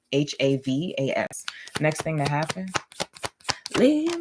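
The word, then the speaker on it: Lianne La Havas: Her name is spelled Lianne, La, L-A, Havis, Havas.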